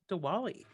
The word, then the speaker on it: Diwali: episode is number six diwali am i pronouncing that right diwali diwali yes so the scene let's